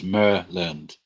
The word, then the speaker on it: Maryland: Hello from Maryland. Pronounce Merland.